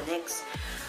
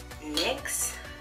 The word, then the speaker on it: NYX: like at that and y/x necks however you want to pronounce it I call a NYX eyeshadow base and this